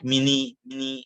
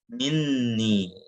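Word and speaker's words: مِنِّي: Maka untuk menjaga, makanya kita nggak bacanya mini, gitu, nggak mini, tapi minni. Nah, jadi seakan-akan ada dua nun.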